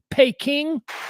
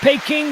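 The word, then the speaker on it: Pekin: the way uh pin the town of pin is probably more commonly pronounced P King remember pay King the old capital of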